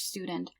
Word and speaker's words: Student: Der Student, a male college student. So I have to say a couple of things about this word. Student, it's pronounced st at the beginning. So st usually, like almost always, makes st.